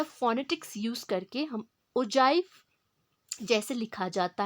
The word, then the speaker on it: ogive: सो यहाँ पर जी के प्लेस पे हम जे टोन या फोनेटिक्स यूज करके हम ओजाइव जैसे लिखा जाता है दैट मीन्स ogive को हम ओजाइव बोलते हैं।